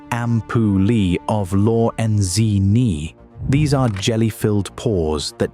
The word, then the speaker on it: ampullae of Lorenzini: Like all sharks, megalodon carried a network of electrical receptors around its snout called the ampullae of Lorenzini, pronounced ampullae of Lorenzini.